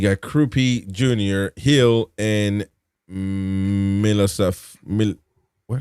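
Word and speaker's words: Milosavljević: And subs for Bournemouth: Dennis Soler, Christie, Kenendoke, Kluivert, Adli, and then you got Krupi Jr., Hill, and Milosavljevic. What? How do you say that? Milosavljevic.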